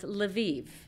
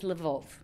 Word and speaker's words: Lviv: This city in the left, in the west, Ukrainian, it is pronounced Lviv. In Russian, it is Lvov.